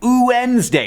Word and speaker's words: Wednesday: are like this too when you say Wednesday you there's no consonant you say uesday it's just vowels when two vowel sounds